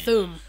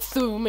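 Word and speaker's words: Thu'um: I've heard people pronounce it thum. It's THU apostrophe UM. Yeah, and I've heard people pronounce it thum.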